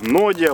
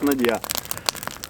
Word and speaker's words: нодья: Давайте так, во-первых, произношение слова надья, оно применимо в двух вариантах. Нодья правильно, надья правильно. Но именно там, где ее придумали, говорят надья.